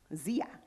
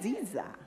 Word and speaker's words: Dziya: Dziya. No, D is silent. There we go. Okay. Yeah, you got it. Did I do it right? Dziya.